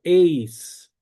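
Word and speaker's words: εἰς: El número 1 en griego masculino es heis. ¿Por qué esto es importante? Porque hay una preposición que se pronuncia eis.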